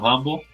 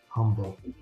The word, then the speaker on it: Humble: Yeah, it's north of Humble. It's north and west of Humble. Okay. And you even said it right. People will say Humble.